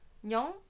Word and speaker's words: 녕: Je comprends pas pourquoi Nyan, ça ne s'écrit pas Nion. Là, t'as écrit Nion. Nyan, il y a une voyelle faite pour, c'est le yo. C'est pour ça qu'on dit Nyan.